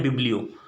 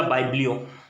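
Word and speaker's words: biblio: बिब्लियो। बिब्लियो या बाइब्लियो, जो भी आप लोगों को अच्छा लगे, both pronunciation are correct, बिब्लियो या बाइब्लियो।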